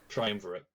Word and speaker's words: triumvirate: triumvirate. Yes, Triumvirate, that is how thank it's you.